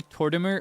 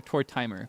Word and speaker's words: Tortimer: Do you say Torimer or Tortimer? Cuz I've heard both. I grew up reading it as Torimer, but Tortimer probably makes more sense because he's an oldtimer, right?